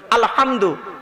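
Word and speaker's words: الحمد: আলামিন বলি না আলহামদু এই গলার ভেতর থেকে এটা উচ্চারণ করবেন আলহামদু মানে হচ্ছে সমস্ত প্রশংসা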